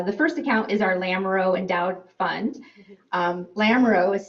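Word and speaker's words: Lamoureaux: four accounts uh the first account is our lamro endowed fund um lamro is spelled l a m o u r e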